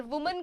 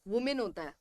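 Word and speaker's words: women: Pronunciation ध्यान रखना, वुमन एंड वुमेन अलग अलग प्रोनाउंसिएशन है। विमेन नहीं होता है, वुमेन नहीं होता है, वुमन, वुमन, वुमन एंड वुमेन, main आता है उसमें, ठीक है, वुमेन। ऑलराइट, कभी विमेन नहीं बोलना, वुमेन होता है, वुमेन।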